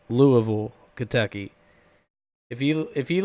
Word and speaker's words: Louisville: Louisville which by the way people it is pronounced Louisville not Louisville its Louisville Kentucky if you if you live in Kentucky